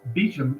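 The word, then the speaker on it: Beauchamp: Elias but the the surname is actually a French name it's uh pronounced Beacham in English I think and so he inherited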